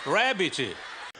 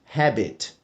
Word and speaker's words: rabbit: é assim que se diz coelho em inglês Rabbit bom nessa parte o Godinez diz habbit Pode parecer uma diferença bem músculo entre rabet